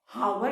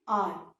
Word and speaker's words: hour: आर की spelling में एच जो है, एच क्या है, साइलेंट। हम इसको हावर तो नहीं प्रोनाउंस करते हैं, हम इसको क्या प्रोनाउंस करते हैं, आर। What do we pronounce children this as, आर। हम इसको आर प्रोनाउंस करते हैं, एच साइलेंट है।